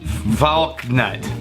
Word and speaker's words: Valknut: It's pronounced Valknut.